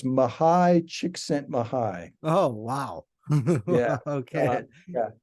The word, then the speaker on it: Csikszentmihalyi: How did you pronounce the name? I've seen the name on Mahal. I thought it was Mahali, Mahali.